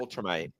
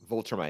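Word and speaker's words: Viltrumite: half human and half how do you pronounce where the planet that Ultramite. Voltramite. Okay, so with a V.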